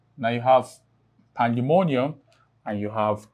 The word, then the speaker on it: pandemonium: Now, the rule indicates that if a word ends with the suffix, and what's the suffix? The I-U-M. Then the main or primary stress would fall on will fall on the penultimate syllable.